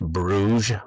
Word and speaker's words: Bruges: And then we'll drive to, I think it's pronounced Bruges, Belgium, Bruge. And it's supposed to be like the Venice of the North.